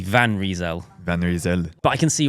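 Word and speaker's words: Van Rysel: is actually pronounced and they said the van is like a white van right and that the risal olle is probably right and it's reel reel so it' be van reel vanel but I can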